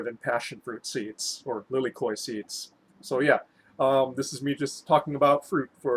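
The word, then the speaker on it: lilikoʻi: Inspired by this wild beauty, Lilikoi Kea is Lilikoi. So that's how you're technically supposed to pronounce it in Hawaiian because the Okina's there at the end.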